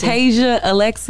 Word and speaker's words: Tazia Alexa: A lot of people say it wrong. Tazia Alexa. It's Tazia Alexa.